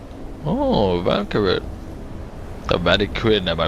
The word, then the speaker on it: Vanikryn: Oh, Vanker the Vatican. Have I pronounced that right?